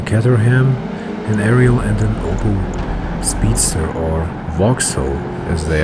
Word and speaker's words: Opel: And Opel is pronounced in German obviously a little bit different. You just say Opel. This is how a German would say it.